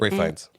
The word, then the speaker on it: Ralph Fiennes: Ray Fiennes. That's how it's pronounced.